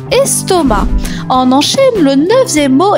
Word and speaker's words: estomac: La lettre muette. Le c à la fin, estomac.